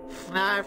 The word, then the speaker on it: Fnarf: You know Fnarf is looking for you. Fnarf rhymes with barf.